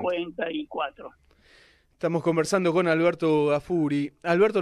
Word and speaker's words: Gaffuri: Estamos conversando con Alberto Gafuri. Alberto, ¿lo pronuncio bien el apellido? Disculpe. Sí. Bien, perfecto. Gafuri con doble F.